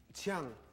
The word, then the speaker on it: Qiang: Qiang. Spell that, please.